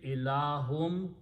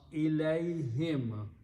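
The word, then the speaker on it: إليهم: But in the tajweed recitation, this hum is pronounced as him to match the sound with the ya. So separately ilahum, to them, but when you write together, you pronounce ilayhim, go back to them.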